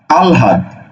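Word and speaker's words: আহ্লাদ: লয় যদি যুক্ত থাকে ল এর উচ্চারণ আগে হবে হ এর উচ্চারণ পরে হবে যেমন দেখো একটা শব্দ আছে আল আল হাত ঠিক আছে আল হাত তাহলে এটার উচ্চারণ হবে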